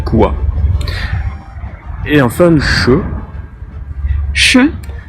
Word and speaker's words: Ш: Et enfin le Ch, Ш. qui correspond à notre CH et qu'on retrouve par exemple dans le chiffre 6, chest.